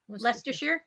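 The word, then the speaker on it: Leicester: how you say it oh say it again leester oh well done yeah yeah I was really patronizing that was it oh well doneer yeah yeah yeah Lester and lerer yeah okay I like how you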